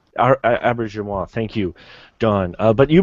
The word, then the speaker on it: Auberjonois: Yeah, I think it's something like Aubergenois. Aubergenois, thank you, Don.